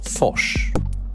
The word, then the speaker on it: Fors: live device called opal made by fosch I think that's how it's meant to be pronounced because it's made by some Swedish people f means stream spelled